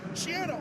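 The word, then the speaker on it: Schiano: We learned right before kickoff, Shiano rhymes with piano.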